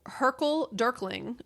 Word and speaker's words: hurkle durkling: So hurkle durkling, which is actually the way you say it.